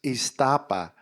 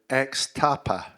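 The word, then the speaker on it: Ixtapa: And it's spelled with an X, Iztapa. And I thought it was called X-Tapa, because I didn't speak any Spanish.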